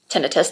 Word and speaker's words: tinnitus: video on sunday because my tinnitus tinnitus that's actually the correct pronunciation was really acting up